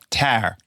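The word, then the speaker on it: Tár: I have watched tar T is that how you pronounce it tar no yes it's a long a tar um yes Kate Blanchet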